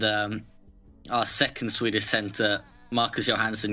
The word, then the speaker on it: Johansson: And our second Swedish center, Marcus Johansson, you would pronounce it Marcus Johansson. His last name obviously means Johan's son, as in Johan Franz in the Detroit player.